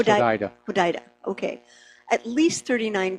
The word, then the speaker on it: Hodeidah: It's pronounced Hodeidah.